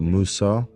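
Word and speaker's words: موسى: No, you got Moses, you got Musa, and you got, is it what? I think it's Moshe.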